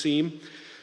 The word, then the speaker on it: SIEM: Sometimes it's pronounced SIM, actually, but I'm going to use SIEM.